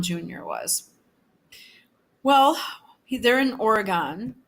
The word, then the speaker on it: Oregon: Well, they're in Oregon, yeah, or Oregon. We pronounce our vowels like that here.